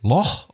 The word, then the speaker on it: loch: And I was like, can you tell me, do you pronounce it Loch or Loch?